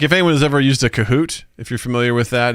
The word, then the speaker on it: Kahoot: have to say it the right way which is kahoot you gotta say it like that wait wait you heard